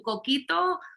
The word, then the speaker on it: Coquito: Coquito? Or am I saying this what? Pitorro? Am I saying it right? Yep, you're saying them right.